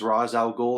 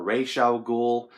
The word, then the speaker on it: Ra's al Ghul: He plays Ra's al Ghul, or Ra's al Ghul. Fan bases pronounce his name differently, and that is okay.